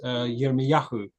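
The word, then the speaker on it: Yirmeyahu: So um quite a lot of Israelite names ending in ia in Hebrew we pronounced as Yahoo.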